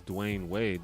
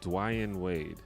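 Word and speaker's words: Dwyane Wade: his name weird because he spells it D-W-Y-A-N-E, Dwayne Wade. But then if you listen to him talk and you listen to him say his own name, he says it the way it's spelled. Everyone else just says it wrong. Like, everyone says Dwayne Wade, but it's Dwayne Wade.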